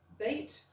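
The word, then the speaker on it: Beith: As I said, there's a there's actually a small town in North Air which is known as Bait, but some of the locals call it BA, some call it bait.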